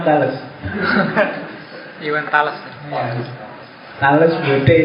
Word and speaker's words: Thales: Kalau kamu tidak percaya, bacanya memang Thales.